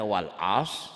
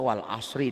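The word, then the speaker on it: وَالْعَصْرِ: Jadi kalau kita membacanya wal as salah. Iya. Harusnya wal asri demi masa, artinya lain. Ini juga khusar, bukan hus ya.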